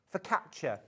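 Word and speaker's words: focaccia: with a rosemary and fakia." Fakia. Is it fauxacia? I can never say it properly. Facia. For catcher. For catcher. Thank you.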